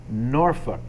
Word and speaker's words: Norfolk: in in the Nebraska the show is in norfol Nebraska watch that pronunciation that's how they say it norfol all right yeah how would you say it norfol Norfolk pronounce that that's how it's spelled Norfolk anybody